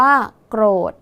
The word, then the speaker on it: โกรธ: คะ โกรธ อ่าน ว่า โกรธ นัก เรียน สังเกต ดี ๆ นะ คะ ตัว สะกด คือ ธ ธง ใช่ ไหม คะ แต่ ออก เสียง พยัญชนะ ท้าย เหมือน ด เด็ก ดัง นั้น คำ นี้